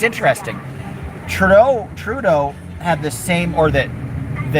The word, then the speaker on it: Trudeau: And IE Candy says, we are dumping Trudeau, which you actually say Trudeau is the Anglican way. Trudeau would be the French pronunciation.